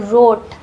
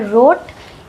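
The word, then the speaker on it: wrote: डब्ल्यू is silent before are. अगर आर से पहले डब्ल्यू रहे तो वहां डब्ल्यू साइलेंट होगा। डब्ल्यू का साउंड नहीं निकलेगा। फॉर एग्जांपल इसको पढ़ते हैं रोट।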